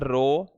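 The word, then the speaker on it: ρ: इसका उच्चारण देख लीजिए, इसे बोला जाता है रो, और इसी को ही हम कहते हैं विशिष्ट प्रतिरोध या प्रतिरोधकता।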